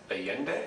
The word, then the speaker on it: Allende: So let's move on to Allende, is that the pronunciation?